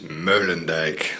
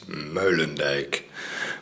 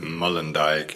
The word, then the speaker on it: Meulendijk: Hi James, this is Meulendijk. So that's the way it's pronounced, Meulendijk. But if you say Mullendijk, it's fine with me also. Okay, man.